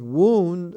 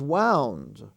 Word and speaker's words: wound: Now, the word wound is spelled the same as wound, but a wound is an injury.